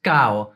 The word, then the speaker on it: caro: For example, the word caro is pronounced cao.